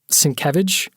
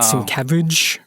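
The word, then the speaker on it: Sienkiewicz: right jesus representative yes who also represents bill cinquevich that's how you pronounce his name by the way i [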